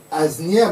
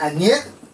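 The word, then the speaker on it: Asnières: L'autre il a lu Aznière mais il a prononcé Agniè parce que en France on prononce Agniè mais l'autre par rapport à l'alphabet qu'il a eu à apprendre il dit là où il y a le S faut prononcer le S mais s'il suivait seulement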